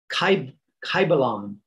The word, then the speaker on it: Kybalion: It is called the Kybalion. This is a very famous ancient book, and it's spelled K-Y-B-A-L-I-O-N.